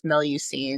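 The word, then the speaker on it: Melusine: So the the pronunciation that we went with is a little Americanized, but it's Melucine.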